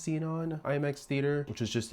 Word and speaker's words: Xenon: We saw the movie the night before, but we did see it in just a regular single Xenon. I think it's pronounced seen on IMX theater which is